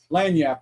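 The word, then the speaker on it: lagniappe: It's, Yeah, it's spelled laganappy or some shit like that. Yeah, right. But it's Right. lanyap.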